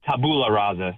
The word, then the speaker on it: tabula rasa: He is a tabula rasa. That's how you pronounce it.